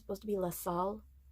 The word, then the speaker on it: La Salle: So the guy kept saying La Salle, and I'm fairly certain it's supposed to be La Salle. I don't think the E is supposed to be pronounced.